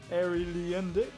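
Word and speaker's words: Arie Luyendyk: Airy Line Dyke? I'll do Line Dyke. Yeah. That's fine. How would you have pronounced it? Because it's only because I've heard commentators say his name. Airy Leendick.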